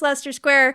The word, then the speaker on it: Leicester Square: mispronounce that, and I actually knew how to pronounce Leicester Square because of the Kink song Dedicated Follower of Fashion. So, thank you. I tried to convince you it was Leicester.